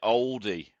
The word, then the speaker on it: Aldi: So you say bald and I say bold, but we both say Aldi, don't we? Aldi, yeah. Aldi. Yeah. She calls it Oldie. Aldi. So I don't know. They must pronounce their A's up there.